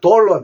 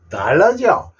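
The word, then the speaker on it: dollar: 어 그래서 달러가 되는데 그대로 읽으면 돌러 돼요 근데 돌라고 읽었다고 칩시다 우리 미국 화폐 단어를 돌러 합니까 달러라고 합니까 달러지 그래서 아 이게 아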